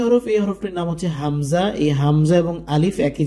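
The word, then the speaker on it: ء: এটার উচ্চারণ হচ্ছে আলিফের উচ্চারণের মতো আ ই ও।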